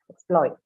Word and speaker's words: exploit: the syllable before it exploit exploit law so the stress is on the second syllable because this is a verb exploit transportation day right again